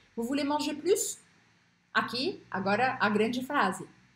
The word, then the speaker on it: plus: Esse plus aqui, eu não vou pronunciar esse S, mesmo que ele esteja antes de um ponto final. J'en peux plus.